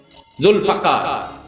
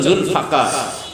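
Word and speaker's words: ذو الفقار: আল্লাহ রাসূল বলেন, উহুদের যুদ্ধের আগে আমি স্বপ্নে দেখলাম আমার তরবারি জুলফাকার, বিশুদ্ধ উচ্চারণ জুলফাকার, আমরা জুলফিকার বলি।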